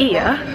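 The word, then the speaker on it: Oia: hey man we've just got to ear which looks like it's pronounced oil but it's here in Santorini yeah we just settle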